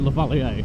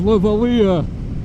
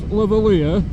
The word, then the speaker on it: lavalier: It's got to be French that right with a name like Lavalier. Or am I just saying it like a absolute tool? It's actually pronounced Lavalia. All right. Show us Lavaliah.